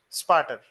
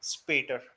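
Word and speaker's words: später: Let us assume if these two dots weren't present, how would be the pronunciation? Sparter, isn't it? So it will be spater.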